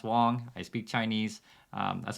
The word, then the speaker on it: Wang: I do understand it's it's spelled w-a-n-g pronounced Wong I speak Chinese um